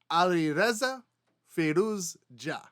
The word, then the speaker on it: Alireza Firouzja: So here we have Alireza Firouzja. Alireza Firouzja.